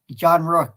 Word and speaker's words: John Rook: football from Gillette Stadium, John Rook. Is that how I say his name? Yeah, John Rook.